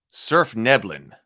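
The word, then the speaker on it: svirfneblin: gotta look that up that's a deep gnome surf neblin it says it's pronounced okay I didn't know that neblin that's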